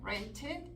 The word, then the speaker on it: rented: Porque tendemos a pronunciar esa ed. Cuando leemos decimos used. Y no debe ser used, debe ser used. Sí lo voy a decir cuando mi verbo originalmente termina en letra T o D. Waited, needed, ended, rent, en pasado, rented.